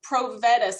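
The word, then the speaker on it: Provetus: clearly and slowly for people who don't know pro vet us and maybe spell it for people so they can find it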